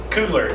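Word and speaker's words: Coogler: In the movie had all the I I always mispronounced his name. Cougler.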